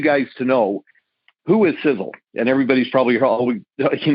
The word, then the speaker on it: Sisel: for something literally and it's in our name sizzle sizzle is spelled s-i-s-e-l it's an acronym the first letter